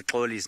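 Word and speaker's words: Xoli: to say paulie's name it's spelt x oli and the X in isn't there Bella which is his mother's home language is same as the Zulu X which you said like you would say if you were trying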